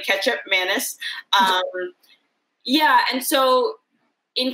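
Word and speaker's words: kecap manis: from indonesia which i didn't even know how to pronounce until recently i thought it was like teacup manny apparently ketchup mantis um yeah and so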